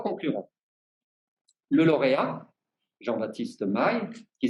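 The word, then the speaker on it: Mailhe: Le lauréat, Jean-Baptiste Maille, qui s'écrit M-A-I-L-H-E.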